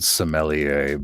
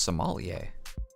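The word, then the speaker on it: sommelier: sound like some old smellier but it was just bottom shelf vodka I started laughing at her she left to it's actually pronounced somal what did I say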